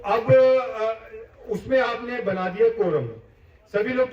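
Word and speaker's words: quorum: उसको कोरम कहते हैं। अंग्रेजी शब्द है ये कोरम सी यू ओ आर ए एम इसकी स्पेलिंग है कोरम। और उच्चारण मैंने बता दिया।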